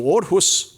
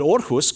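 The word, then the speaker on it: Aarhus: it's pronounced ah but orus goes at the end because it's in Scandinavia and it's pronounced or this makes perfect sense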